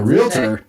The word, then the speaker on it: realtor: We have Megan Atkins who is a realtor. I said it right. Right. Realtor. You did. Not realtor. It's not realtor.